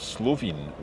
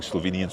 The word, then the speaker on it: Slovene: Um, we can refer to it as Slovenian, but also I've heard Slovin, which is correct? I think both are correct, actually. Okay. So, we've been using Slovenian so far.